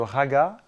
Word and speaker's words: raga: D'un côté, le raga, et de l'autre côté, le tala. Alors qu'on prononce rag et tal en Inde.